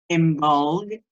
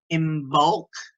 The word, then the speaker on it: Imbolc: blessings to you this in bulk or AMOLED or in bulk so people pronounce at different ways the traditional ways is